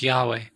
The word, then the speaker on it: Yahweh: than yahweh but mostly most scholars say it probably is pronounced yahweh so um so fire